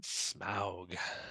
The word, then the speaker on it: Smaug: So I think we're starting here in chapter 12, where Bilbo is speaking to, do you say Smaug or Smaug when you read them? Smaug. Smaug. All right. So I'll adopt your pronunciation.